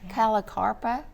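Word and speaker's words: Callicarpa: Calicarpa. Is that how you pronounce That's it?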